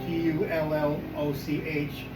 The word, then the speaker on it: Tulloch: I did find up in Dingwall, Henry Davidson back in the mid-1700s bought the Tulloch Castle, if I'm pronouncing it right, Tulloch, H is silent, bought the castle from his cousin, and it had been in the family for 2 decades up until the mid-1900s.